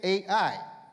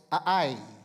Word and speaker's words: Ai: that that city state AI now phonetically Elder Dan was right it pronounced a ye but linguistically if you listen to a Hebrew audio Bible it's two syllables a I not not very nice